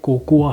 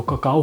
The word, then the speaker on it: cocoa: सबसे पहले ये कहना चाहता हूँ, इसका जो स्पेलिंग है ये COCOA है, तो किसी को ऐसा लग सकता है कि ये कोकोआ होगा, लेकिन दो ही चीज़ होती है, या तो ककाओ होता है उसके पौधे को कहते